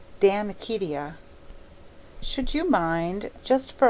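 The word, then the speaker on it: De Amicitia: We've finished Libby and Denut and now engaged with Damakitia, pronounced Damakitia.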